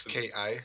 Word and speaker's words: ki: use one of my key points for another bonus attack so with my bonus action i get two unknown strikes is it key have i been saying it wrong like it's ki so all right it's